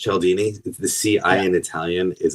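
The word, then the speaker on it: Cialdini: Yeah, it's it's it's usually pronounced Chelini.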